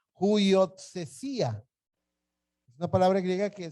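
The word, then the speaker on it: υἱοθεσία: Es esta, y se pronuncia huiotsesía. Voy a repetirla, huiotsesía.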